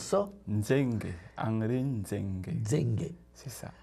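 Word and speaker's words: Ndzengue: Alors, mon nom de famille, c'est Nzenge. Henri Nzenge. Nzenge s'écrit N-D-Z-E-N-G-U-E. Alors, tu répètes comment on prononce ça? Nzenge.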